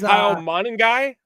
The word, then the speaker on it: Kyle Monangai: No, It is Kyle Monangai. Kyle Monagai.